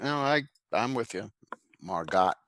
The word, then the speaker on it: Margot: i i'm with you margot silent t margot okay all right how